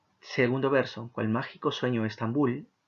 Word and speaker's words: Estambul: verso cual mágico sueño estambul bull tiene la mayor intensidad en la última sílaba estambul entonces cuando termina en